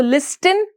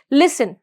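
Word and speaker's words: listen: वो क्या है साइलेंट तो हम उसको लिस्टन नहीं बोल के क्या बोलेंगे लिसन alright moving to द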